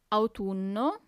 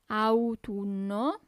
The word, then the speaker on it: autunno: Then we have autumn, autunno, autunno. So you really have to pronunciate those U's, okay?